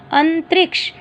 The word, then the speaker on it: अंतरिक्ष: देखो अ के ऊपर बिंदी है, त र को छोटी ई क्ष, अंतरिक्ष।